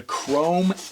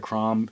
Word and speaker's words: CROM: Notice I'm pronouncing it chrome now instead of Crom. before I was it was like CROM is what was in my mind you know like readonly